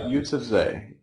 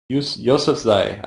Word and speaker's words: Yousafzai: Yeah, I think it's Yousafzai. Yousafzai, I think is how it's pronounced.